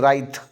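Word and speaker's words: wraith: 131 number पे रिथ, और इसका जो प्रोनाउंसिएशन है वो है राइथ।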